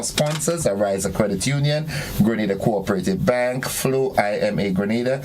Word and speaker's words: Grenada: So today, like we Germans say, we are in Grenada. But I heard in English it's called Grenada. Say it right. Grenada. Say it right. Grenada. That's right. Grenada. There we go. Say it right. It's Grenada. It's not Grenada.